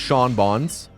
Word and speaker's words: Sean Bonds: Sean Bonds, but it's spelled like Sean Bean. It's like Sean Beans, except it's pronounced Sean Bonds.